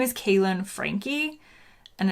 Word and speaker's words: Franke: name on youtube but my name is kaelyn frankie and it's spelled well people think it's frank because it's f-r-a-n-k-e it's german it was francais but then um